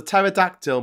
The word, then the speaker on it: pterodactyl: What What noise does a pterodactyl make when it goes to the toilet? None. Because the P is silent.